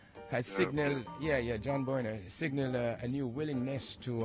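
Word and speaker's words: Boehner: as uh his uh cohart John a crybaby Bor am I saying it right has signal yeah yeah John bner signal a new willingness to uh cut a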